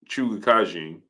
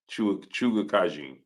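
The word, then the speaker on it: Chukhadzhian: him, because Karen Chuga Kajin is Chuga Kajin. That's how you say it, Claire. Chuga Kajin.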